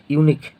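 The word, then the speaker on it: unique: जाएगा ए आपका होगा यूनिक देखिए यू है लेकिन यह ओ ओ में नहीं आएगा कख ग में आएगा जैसे यू निक तो यू य आ गया यहां पर ठीक है यहां पर बवेल है लेकिन हिंदी उच्चारण में आपका क्या हो जाएगा यह हिंदी उच्चारण में आपका य हो गया इसलिए ए होगा एम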